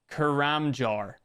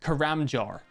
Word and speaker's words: Karamja: Karamjar. It actually says karamjar. I don't know where the a No, no, no. It says it says jar. It says jar.